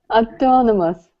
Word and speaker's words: autonomous: um Julia uhuh autonomous ah how do we pronounce this word where is the stress aonomus no close again a autonomous autonomous autonomous autonomous autonomous the first letter O